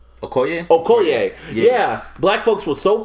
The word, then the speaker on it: Okoye: Okila? Okoye? Okoye.